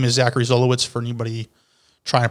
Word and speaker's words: Zachary Zolowicz: So my name is Zachary Zolowicz, for anybody trying to pronounce my name.